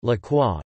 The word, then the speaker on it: La Croix: La Croix, French pronunciation, La Croix, English, The Cross, is a daily French general interest Roman Catholic newspaper.